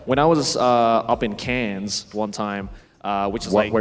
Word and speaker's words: Cairns: I remember when I was up in Cairns one time, which is Wait, where? Cairns? Like in France? No. That's C-A-N-N-E-S. Cairns is spelled C-A-I-R-N-S. IRNS.